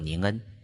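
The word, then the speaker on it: 人間: The Japanese word for this passage is pronounced Ning En, which means human in Japanese.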